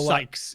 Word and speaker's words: Sykes: pronounce the the Sykes is is how we've been going with it. Yeah, I I always you know I wouldn't I wouldn't be anyone calling him six but Sykes is what I think it is.